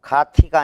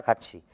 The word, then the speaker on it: 같이: 지로 발음한다 교체야 교체 티읕이 치읓으로 가티가 아니라 같이 붙이다가 아니라 붙이다 세부키가 아니라